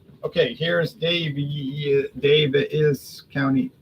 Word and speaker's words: Daviess: Okay, here's Daviess County. I guess it's pronounced Davies, but it looks like Daviess.